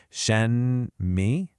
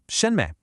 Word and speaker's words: 什么: So you don't pronounce it as two separate words like shen, mi. No, it's one unit, shenme, where the mi is just a quick, soft ending. All the emphasis is on that first syllable.